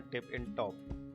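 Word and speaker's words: Tip-n-Top: Like Nainital में जैसे tiffin टॉप है, ऐसी लैंसडाउन में टिप इन टॉप, टिप इन टॉप, हाँ यही प्रोनाउंसिएशन है इसका।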